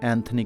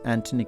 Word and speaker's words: Anthony: in urdu it's okay similarly the words like thompson and thomas and anthony not anthony quinn it is antony quinn because while speaking english